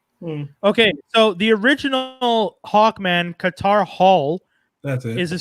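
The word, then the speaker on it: Katar: be foreign so much you mispronounced carter as qatar no no no no no no what he's a his name k-a-t-a-r space h-o-l qatar hall before he was in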